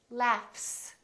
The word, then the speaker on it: laugh: The word laugh. This GH is actually an F sound, right? F, f, f. There's no vibration in my vocal cords, so the F is actually a voiceless sound. So that means the S that follows it will also be voiceless, and we will say laughs, laughs. Look at this word, live, live.